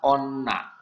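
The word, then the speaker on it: 女: ya perempuan ya Nah untuk kanji ini dibacanya Onna untuk kungyominya dia dibaca on atau Me kalau dia berdiri sendiri dibaca Onna tapi kalau digabung dengan kanji lain dia bisa dibaca me Ya baik taruh di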